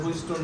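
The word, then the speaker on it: Wheatstone: দেখো এখানে একটা ট আছে, দেখো বাট এই টটা উচ্চারণ কম হয়, এই জন্য অন্য কালি দিয়ে লিখছি। তুমি যদি বলো হুইটস্টোন ব্রিজ, হবে না? তা না হবে। আর নরমালি ওই টটারে হালকা সোয়ায় যাওয়া হয় যে হুইটস্টোন ব্রিজ। বুঝছি আমরা? মানে ওইটারে উচ্চারণ করবা যাতে কেউ না বুঝে তুমি ছাড়া।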